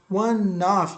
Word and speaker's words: of: It was one of. Ó, legal que é importante. Ó. Quando você fala a palavra OF, que é a pronúncia of, não é off, tá? Não se pronuncia off, é one of.